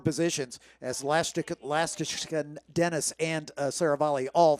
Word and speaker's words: Lastoshkin: because for 4 years I called him Nikita Lastoshkin. Yeah, and that's why it was okay for him. He didn't tell me. Then I find out earlier this season that I've been saying it wrong. So now we're all trying to relearn. It's Nikita Lastashkin, and I'm doing the best I can for Nikita.